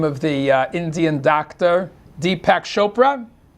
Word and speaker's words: Deepak Chopra: Deepak Chopra? Pronounced it right?